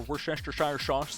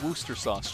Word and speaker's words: Worcestershire: It's pronounced Worcester sauce, chat. You're welcome. You're gonna learn today. There's a video on this that I can't be bothered to go find. It's not Worcestershire. It's pronounced Worcester. It's not.